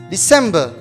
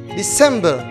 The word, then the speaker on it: December: last month is december december it's like november the stress is in the second second syllable december let's say together december